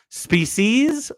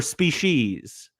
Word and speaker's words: species: a couple people, but do you pronounce this Spe-sees or Spe-shes? I know that both are acceptable. I have always thought Spe-sees, like seas, and so I'm curious